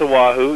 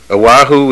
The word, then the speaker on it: Oahu: That's Oahu. Yeah. Oahu, right? That's where it is. Which course are you talking about? No, I'm just saying the area. Oahu is where the famous beach is.